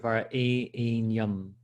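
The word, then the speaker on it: varenyam: So in order to make this 8 syllables, you have to elongate this E, which is why you have a dash over the E.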